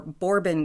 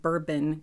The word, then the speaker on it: Bourbon: and on about for ages, custard creams or Bourbon creams. I was corrected that it's not "Bur-bun" creams, it's "BOUR-bon" or "BOUR-BON" even depending on your your dialect.